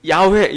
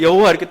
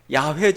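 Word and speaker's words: יהוה: 이 제복을 해가지고 아 여호와 다 이렇게 했는데 사실은 정확한 발음은 아닙니다 정확한 발음은 야외 저야 외에 그래서 공동번역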